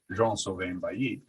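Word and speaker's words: Jean Sylvain: a frenchman would so i learned that it's it's john sylvain so um uh by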